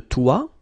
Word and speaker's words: toit: La sonnette, le balcon, le toit, la fenêtre, le grenier. Okay, so la sonnette, le balcon, le toit, remember final T not pronounced, la fenêtre, le grenier.